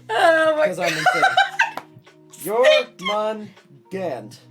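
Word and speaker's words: Jörmungandr: Jormungand is what you say. I say Jormungand, Gund. but I also, when I read it, I see the umlauts above it because I'm German, so Right. I pronounce it weird. Right, Jormungand is how you say it. Yeah. And I say there's an R at the end.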